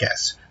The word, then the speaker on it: cache: कैश memory उसके नाम से पता चल रहा है कैश। देखिए CACH, कैचे पढ़ते हैं कुछ नहीं, बट इसको कैश ही प्रोनाउंस किया जाता है, ठीक है।